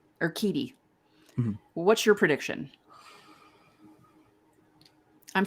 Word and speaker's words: Urquidy: So quickly before we go, tonight, Fried against Urquidy. Is that how you say his name? Urquidy.